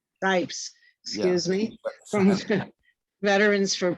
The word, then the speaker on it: Scipes: Did I pronounce that correctly? It's Scipes. Scipes.